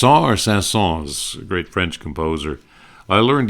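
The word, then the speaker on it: Saint-Saëns: your proper name of pronouncing the s or not pronouncing the S and the S family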